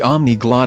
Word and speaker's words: Omniglot: Speaking of languages, you might like the Omniglot free video lessons on Biblical Hebrew. That sounds like polyglot.